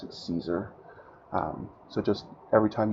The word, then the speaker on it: Caesar: kesar I pronounce it Caesar um so just every time you hear it mentally pretend I said Kar if you do prefer the original Roman pronunciation however I'm English so we say Caesar anyway all right I just